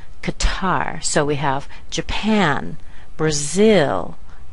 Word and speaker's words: Qatar: you americanize this word you'll say C Qatar hear the Glide at the end Qatar so we have Japan